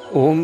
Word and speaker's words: ओम: ओम के उच्चारण में आधा इंच मुंह खोल करके प्रारंभ से अंत तक ए अक्षर का उच्चारण करना है और मुंह को धीरे धीरे बंद करते जाना है। स्वतः ऊ और मैं की ध्वनियां भी निकलेगी